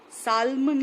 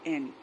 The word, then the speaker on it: salmon: Salmon लिखा है SALMON, but you will pronounce it as salmon. Okay, salmon. L is silent.